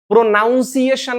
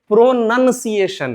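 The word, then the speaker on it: pronunciation: प्रोनाउंसिएशन नहीं है। यह प्रोनंसिएशन है।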